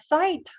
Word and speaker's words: sight: and was out of sight Mike climbed the bike and was out of sight so the word site again silent g h t zakritis GH Nas